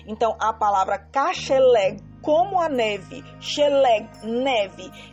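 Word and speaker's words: כשלג: Às vezes, quando pronunciamos rápido, parece que está um finalzinho do R. Então, eu vou colocar o G aqui para que você possa entender. Então, a palavra kasheleg, como a neve, sheleg, neve.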